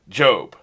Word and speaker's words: Gob: next we've got envy job i keep one called gob because that's how it's spelled but he wants to be called he wants to be pronounced job okay whatever he's envious